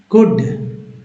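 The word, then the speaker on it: could: में आए जैसे देखिए कुड है ना एल आए डी के पहले एल है तो साइलेंट है एल कुड पढ़ेंगे यहां पर देखिए वुड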